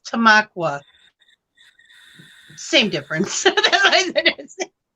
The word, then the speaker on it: Tamaqua: came to this town i'm like it's tamiqua you've never heard of a town called tamiqua my friend looks over and she says it's tamaqua same difference it sounds